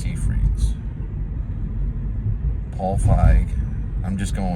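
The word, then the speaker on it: Seyfried: It's pronounced Siegfried's.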